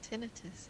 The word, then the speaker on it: tinnitus: on that advice um is it we pronounce it tinnitus here ah okay so is